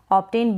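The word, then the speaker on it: obtain: O का उच्चारण अ हो रहा है, ऑब्टेन B को ब पढ़ रहे हैं।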